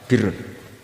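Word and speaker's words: بِرّ: Ya kalau di isim fa'ilnya umumnya guru-guru kita baca barin, tapi untuk masdarnya, untuk kebaikan bacanya apa? Birrun. Nanti kamu protes, oh barun itu daratan Gus, kalau birun itu kebaikan.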